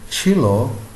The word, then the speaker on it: cello: is very different is very difficult in the pronunciation so chilo is che e al o u the pronunciation